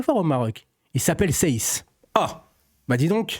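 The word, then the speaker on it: Saïss: Il s'appelle Seiss. Ah, bah dis donc, ça s'écrit pas comme moi, mais ça se prononce comme moi.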